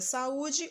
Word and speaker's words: saúde: Na palavra saúde, o U já está acentuado, portanto, ele é a sílaba tônica na palavra saúde.